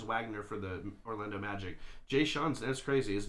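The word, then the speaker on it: Jae'Sean: rockets and franz wagner for the orlando magic j sean's that's crazy his name is spelled j-a-e uh apostrophe a s-e-a-n j sean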